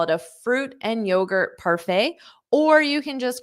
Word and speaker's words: parfait: just call it a parfait notice that pronunciation the t is not pronounced so it ends on a f a parfait parfait you